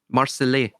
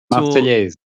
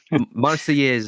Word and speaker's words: Marseillaise: But you see the Marseillais, I think is the term. I apologise if I butchered the French. Marseillaise. Marseillaise, yeah. So you have Allons, enfants de la patrie, right?